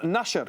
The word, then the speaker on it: Nasher: We're also joined by Nasher. She is, and I believe that's pronounced Nasher. Is that correct? Correct, yes, very good.